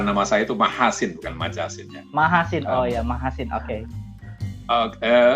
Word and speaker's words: Machasin: Islam begitu Prof ya nanti ambil ya diluruskan pengucapan Nama saya itu menghasilkan majasnya mahasin Oh ya mahasin oke oke apa namanya Gem